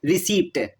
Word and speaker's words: receipt: For example, a common spelling mistake is spelling receipt as receipt, leaving out the silent P.